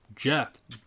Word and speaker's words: Jeph: Jeph Loeb. Jeff. I've never seen Jeff spelled like that. You know what? I've only just thought about this, but yeah, me neither. That's the only person I can think of who spells Jeff, J-E-P-H. Jeff.